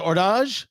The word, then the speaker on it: Hors d'Age: The was it the ordage? Is that how we decided how it's pronounced?